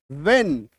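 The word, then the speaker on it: when: व और ह की जोड़ी ही ऐसी है जब आधा व और ह एक साथ आता है। ह ऑटोमेटिकली साइलेंट हो जाता है। ठीक है? इसको लिख लीजिएगा। व्हेन व्हाट विसल है ना? इस तरीके से इसका उच्चारण। तो डब्ल्यू के बाद क्योंकि एच का आया था इसलिए मैंने आपको यहां पे बता दिया कि एच जो है यहां पर इस केस में साइलेंट होता है।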